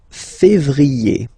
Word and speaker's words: février: Then comes février, okay? Remember when you have this accent aigu on the top of then you pronounce it e, okay?